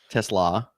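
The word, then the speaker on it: TeSlaa: I'm sorry. Tesla. Like okay, coleslaw.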